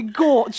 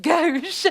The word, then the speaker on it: gauche: That was very gauche of you. Gauche. I'm sorry. It was very gauche of me. It's actually pronounced gauche.